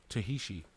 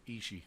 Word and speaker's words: Ishii: Tahishi. No, Ishii.